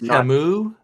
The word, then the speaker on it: Camus: Pronounced Camus.